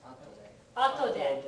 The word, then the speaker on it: 後で: After, and it's pronounced atode.